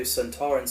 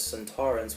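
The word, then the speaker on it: Sontarans: died of fright also donna's mispronunciation as santorans was actually the original pronouncing in the time warrior the first episode santorans appeared but kevin lindsey who played lynx pronounced it as santorans just like we all do and he won the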